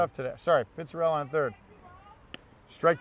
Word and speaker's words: Pizzarella: Pizzarella.